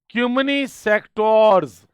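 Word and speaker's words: cymini sectores: Italian इसका pronunciation है क्यूमनी सेक्टोर्स, क्योंकि वो बाल की खाल निकालने वाले हैं।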